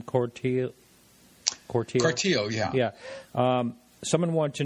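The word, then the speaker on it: Cortile: Corteil, yeah.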